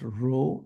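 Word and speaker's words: rho: so this is the Greek letter row is pronounced row r h o and so what I'm writing here is that the correlation between X and Y is is some numerical value row right so the correlation as you probably know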